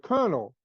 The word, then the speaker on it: colonel: to say the word Colonel because it's k-e I think it's k-e-r-n-e-l or something or Al so that's kernel for me if you look at the word kernel as in military it's